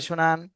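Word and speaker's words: ش: এইতো মাশাল্লাহ সুন্দর হয়েছে শিন কিন্তু মোটা আওয়াজে হবে শিন শাসা শব্দ বের হবে শিন আবার বলেন সিন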